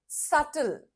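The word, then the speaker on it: subtle: Pronunciation क्या है इस शब्द का? दी आंसर इज़ सल। बी is silent.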